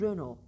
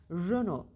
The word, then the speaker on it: Renault: bitişli kelimelerde test söylenmiyor mesela renodaki gibi Renault yazılır ona okunur üzen o bile değildir o Renault derler doğrusu Renault Renault deodorant öyle bir bakın